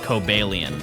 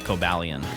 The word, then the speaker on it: Cobalion: Yeah, it's just going on a train and then talking to the Swords of Justice and then learning that it's pronounced Cobalion and not Cobalion.